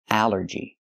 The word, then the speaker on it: allergy: But here it makes the a sound. The short a like an apple and black. A allergy. It's three syllables. Allergy. The stress is on the first syllable.